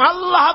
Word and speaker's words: আল্লাহ: আল্লাহ পাকের উচ্চারণটা হচ্ছে আল্লাহ পাকের নাম হচ্ছে আল্লাহ। মুখটা একটু গোল হয়ে যাবে। বলেন আল্লাহ আল্লাহ।